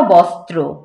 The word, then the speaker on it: বস্ত্র: জীর্ণ, জীর্ণ বস্ত্র, বস্ত্র, এই যে রফলাটা যে আছে সেটাও কিন্তু উচ্চারণ করতে হবে সুন্দর করে, জীর্ণ বস্ত্র, শীর্ণ গাত্র, ক্ষুধায় কণ্ঠ ক্ষীণ, ক্ষুধায়, ক্ষুধায়, ক্ষুধায় না কিন্তু ক্ষুধায়।